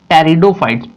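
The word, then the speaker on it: Pteridophytes: That means our third group, third division टेरिडोफाइट्स। P silent रहता है यहां पर।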